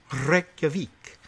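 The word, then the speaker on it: Reykjavík: Or I guess if we really want to try the pronunciation, they roll their R's there. Reykjavik.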